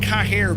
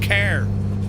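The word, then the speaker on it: Cahir: We're near car or if you look on the map it looks like cah here but it's pronounced car.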